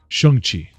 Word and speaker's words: Shang-Chi: Shang-Chi.